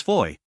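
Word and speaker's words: Fowey: town they learned that the various fo voice were all pronounced Foy and that even aside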